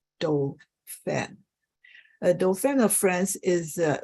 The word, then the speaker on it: Dauphin: We'll pronounce it as Dauphin.